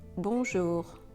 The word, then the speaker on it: bonjour: Remember, you should never pronounce the consonant in this nasal sound. We never say bonjour, we say bonjour.